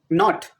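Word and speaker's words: knot: Not as not, leaving out the silent K.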